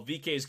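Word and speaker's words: VeeKay: VK, Yeah, right?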